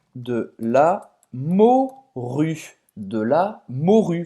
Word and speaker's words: morue: De la morue. Você não vai pronunciar esse E no final.